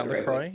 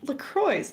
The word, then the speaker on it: LaCroix: And then you're going to get the LaCroix. Is that how you say it? Yeah, LaCroix. Yeah, that's right. LaCroix.